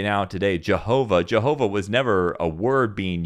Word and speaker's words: Jehovah: So they didn't pronounce it Yehovah, because that W with the V sound, Yehovah. No, instead, what they did is they would still pronounce it as Adonai. It was just a visual reminder to say Adonai.